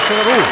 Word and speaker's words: Celarù: La neocorista Paola Celarù, con l'accento sulla U. Al Silitù, Celeste di Muno Ruà, con l'accento sulla A.